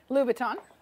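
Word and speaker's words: Louis Vuitton: with the red right how do you say it Lou Vuitton Lou Vuitton so so many people say that so many different ways but that's how you say it everybody yes Christian Christian louu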